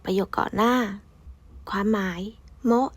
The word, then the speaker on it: も: ก่อน หน้า ความ หมาย โมะ อ่าน ว่า โมะ แปล ว่า ก็ หรือ